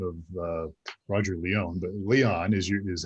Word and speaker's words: Leon: I keep hesitating because I had a friend by the name of Roger Leon, but Leon is how you pronounce it. Leon has been our guest today.